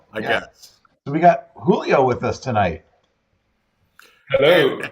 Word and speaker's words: Julio: And, and So actually, generally, people get this wrong, but my name's actually Julio. Julio. Obviously, in North America, most people pronounce it Julio because of, the like Spanish Mexican, but my dad is actually Portuguese, so it's Okay. Julio, so it's a Julio Julio. Nice. pronunciation, not Julio.